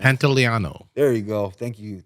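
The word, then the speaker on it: Pantoliano: That's when Eddie, Chris Benoit, and Joe Pantoliani. I cannot pronounce that. Pantaleano.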